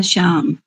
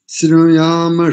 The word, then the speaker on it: स्याम: लेकिन चूक गई वहा कहां पर शत मदीना श्याम नहीं करेंगे श्यामा शत मदीना श्यामा श्यामा ठीक है जी ठीक है गु